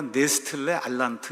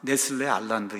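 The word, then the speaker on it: Nestle-Aland: 어쨌든 여기 가서 보니까 네스틀레 알란트 이렇게 돼 있죠 독일어 식으로 이제 발음을 하면 네스틀레 알란트 이렇게 되는데 그냥 미국 사람들이 발음하는 걸로 하면 그 네슬레 알란드 이렇게 이제 되는 거예요에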